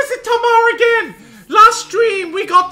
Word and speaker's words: Tamar: Even in a cave of corpses, I can bro, Tamar rhymes with Garika.